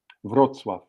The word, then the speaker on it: Wrocław: Now it doesn't look like it sounds. It's WROCLAW, Yeah. but we know we have to pronounce it Wrocław.